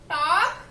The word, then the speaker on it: talk: The letter L is silent, right?